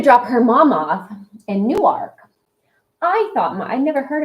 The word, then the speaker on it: Newark: what it was because that's not how you pronounce it. Correct. Newark. Newark. Whatever. It sounds like New York.